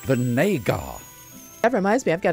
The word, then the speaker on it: Vinégar: It's pronounced Vinégar.